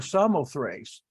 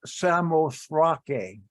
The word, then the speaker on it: Samothrace: It's called that because in verse 11, it says, from Troas, we put out to sea and sailed straight for Samothrace, or Samothrake is the correct pronunciation.